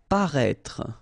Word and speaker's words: paraître: Paraître. Okay, so if you remember from the first video, then we had as well this accent circumflex on the top of I here, but then you don't pronounce it.